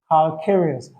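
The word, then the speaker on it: calcareous: Yes, this is also caleros that caleros or calccarious that's the pronunciation calccarius. The word calccarious means having to do with ca3.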